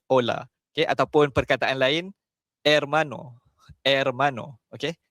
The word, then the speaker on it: hermano: Ejaan dia H O L A. Okey. Tapi kita sebut ola. Okey. Ataupun perkataan lain, Ermano.